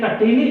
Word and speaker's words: कटीली: कटीली नाक से उच्चारण नहीं हो रहा है, दूसरे वाले का नाक से भी उच्चारण करना पड़ता है, चंद्र बिंदु का उच्चारण नाक से करना पड़ रहा है, ठीक है।